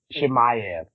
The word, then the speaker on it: Chimaev: Chimaev.